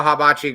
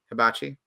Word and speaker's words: hibachi: you go to a habachi grill in a different location yeah sure yeah jordan how do you pronounce that hibachi okay it sounds like you put an a in there it's like haba no also patrick if you